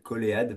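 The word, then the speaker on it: COLEAD: Donc très courte intro, nous appelons le COLID, Coléade, parfois prononcé ainsi.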